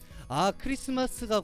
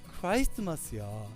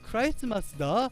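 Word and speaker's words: Christmas: 크리스마스가 곧 오겠구나, 이제 곧 크리스마스네 라는 이야기를 할 때 여러분들 옆에서 딱 이야기하는 거예요.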